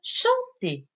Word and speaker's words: chanter: Le premier verbe, c'est le verbe chanter. Chanter, qui se termine avec ER. ER, qui se prononce et.